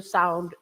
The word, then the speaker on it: sou: O-U, the sound O. It's not quite the O, the English O, but it's similar. It's O. O on its own, it's also a word. It means or. But you say, for example, in a very common word, sou, I am, right?